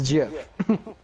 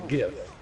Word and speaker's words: GIF: No, it's a gif. It's a GIF. It's a hard G.